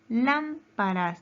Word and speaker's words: lámparas: Lámparas tiene 3 sílabas. Lámparas. Su sílaba tónica, ¿dónde se encuentra? En la antepenúltima sílaba.